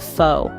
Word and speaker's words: pho: lovers across the globe foe pronounced f is a unique dish